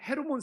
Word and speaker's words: 헤르몬: 이 헐몬산이 영어로 오면 헤르몬 산입니다. 지금 헐몬을 풀어도 리을을 연음으로 풀어도 헤르몬 산이 되는 거예요. 영어식으로 읽느냐, 그 차이만 있는 것이지.